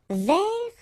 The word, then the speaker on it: vers: Vers, so you don't pronounce the final S, means towards or about.